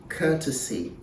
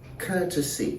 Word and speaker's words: courtesy: pronounced the same way the first has three syllables and the second one has two syllables so the first one is pronounced courtesy courtesy in American English you